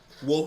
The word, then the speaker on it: Wolf: If you tell me how to pronounce it, I'll do it. Wolf. Oh, it's just wolfing around? Okay, that makes sense. I don't know how I didn't realize that wolf in your name is just spelled like Commander Wolf. Okay, I got you now, bro.